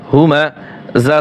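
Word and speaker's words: هُمَزَة: জিরলি কুল্লি, ওয়াইলুল্লি কুল্লি হা পেশ হু মিম জবর মা হুমা, যা জবর যা হুমাযা, তা লাম দুই জের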